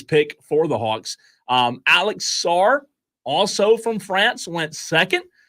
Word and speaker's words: Sarr: Since Alex Sarr is from France, do you pronounce the two R's on the end? It's probably like Soir. Soiree. Alex Soiree. Alex Soir. I think I heard somebody say Sarr last night, believe it or not.